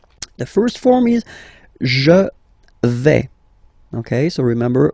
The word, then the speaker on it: vais: The first form is je vais. Okay, so remember, final S not pronounced here. Je vais.